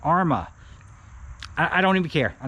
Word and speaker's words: Arrma: Arma.